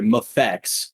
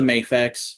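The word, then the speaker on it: MAFEX: action figure um so there's a lot of arguments about how to pronounce that thing i i default to mayfix but it is supposed to be mfx anyways uh they revealed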